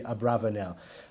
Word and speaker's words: Abravanel: or as I say some have suggested he should be Abravanel we call him a barber Nell it's just the more common pronunciation the question with the